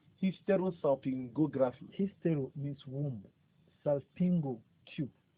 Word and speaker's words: Hysterosalpingography: Hysterosalpingography. Hysterosalpingography.